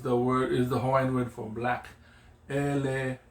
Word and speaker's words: ele: Ele is the Hawaiian word for black. Ele. Yeah, the E doesn't change its pronunciation.